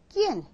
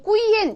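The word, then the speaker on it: quién: 누구 이런 말이 이거예요 끼엔 끼엔 끼엔 이렇게면 돼 끼엔 이거 꾸엔 이렇게 얼마나 많이 하는지 처음 배우시는 분들이 그러시면 안 되고 끼엔 이렇게 하셔야 된다는 거죠 그다음에 인제 굉장히 특이한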